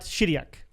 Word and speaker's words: Chiriac: Romania Syria is so you don't pronounce the h right right okay then